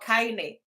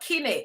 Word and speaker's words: Kine: Which is the correct pronunciation? 1, Kine.